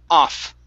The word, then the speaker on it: off: Okay, next, off instead of of with the sorry of. Okay, more with the V sound. It's off, off.